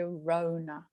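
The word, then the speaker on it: Rhona: anything like that um the h is silent my rona my amazing i finally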